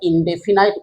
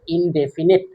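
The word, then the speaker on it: indefinite: আমরা ইনডেফিনাইট উচ্চারণও করি। কিন্তু একচুয়ালি উচ্চারণটা হচ্ছে ইনডেফিনিট বা এটাকে বলে সিম্পল প্রেজেন্ট।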